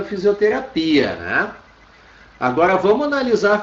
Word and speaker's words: fisioterapia: Agora, a pronúncia dela é fisioterapia. Sobra aqui a sílaba tônica. Então, fisioterapia. Lembrem-se que indica, ó, todas as palavras que terminam em terapia em português acabam sendo terapia em espanhol, tendo alterado a sua sílaba tônica.